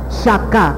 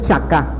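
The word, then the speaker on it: שחה: Shaká, a ver, di, shaká, con SH, no con CH, no es chaká, es shaká, ¿verdad?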